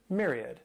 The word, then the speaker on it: myriad: This word has 3 syllables and the stress is on that first syllable. That M-Y-R sounds like a myriad.